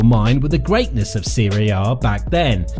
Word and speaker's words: Serie A: And now, another interesting fact to completely blow your mind with the greatness of Serie A back then.